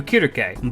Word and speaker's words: Circe: After this, Telemachus would marry Circe, and Telegonus would marry Penelope. Additional fun fact, her name is pronounced closer to Kirke, but every time I'm